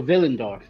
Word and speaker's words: Willendorf: where it is and is it willendorf or is it spelled differently it's spelled with a w so villendorf villains yeah cool thanks